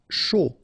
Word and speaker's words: chaud: Chaud. Final D not pronounced.